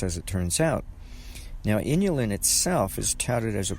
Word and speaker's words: inulin: I was beginning to suspect that inulin, which is an ingredient inside of Jerusalem artichoke, it kind of rhymes with insulin, and it even is similarly spelled. And I began to wonder if inulin might have any kind